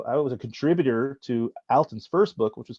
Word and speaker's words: Alton: for all this time it's Alton not Alton Alton Brown yeah